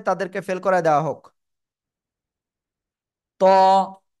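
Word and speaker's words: ط: ত, জিহ্বার আগা উপরে দুই দাঁতের গোড়ায় লাগান, লাগিয়ে মোটা আওয়াজে উচ্চারণ করতে হবে। ত, ত, সবাই একসাথে উচ্চারণ করেন।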